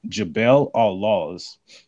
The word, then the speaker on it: Jabal al-Lawz: areas, and he found this area called Mount Jabal al-Lawz, and I'll spell that for you guys so you can look it up for yourself.